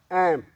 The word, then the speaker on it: ऐं: अनुस्वार में ऐम, ह्रीं, क्लीं, चामुंडाए, विच्चे, यानी पहले में कई लोग इसको ऐंग कहते हैं, संधि में ठीक है, लेकिन अदरवाइज जो मूल रूप है ऐम, ह्रीं माने मो, क्लीं, चामुंडाए।